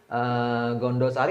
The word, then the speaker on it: Gandasari: Ya, itu diutus perempuan cantik dengan rombongannya, perempuan cantik yang namanya tadi itu saya sebut Nyimas Ratu Gondosari atau Gandasari bacanya ya.